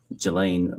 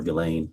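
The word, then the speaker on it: Ghislaine: Um, as best as we know, it's been public reported that in 2024, uh, Gilain Maxwell or Gain, I think is how it's pronounced, arranged and wired, uh,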